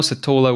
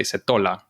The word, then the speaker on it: Setola: So you would say Setola in Spanish. If you had it in the A, it would be Setola, or Setola if you said it said the accent on the E.